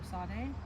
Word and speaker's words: tsade: - Some people have trouble pronouncing the letter tsade. But if you think of pizza, then you should be good to go.